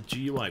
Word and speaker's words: GUI: the GUI thing yeah it's a GUI graphical user interface GUI with a soft G you don't call it a dude alright guys hope you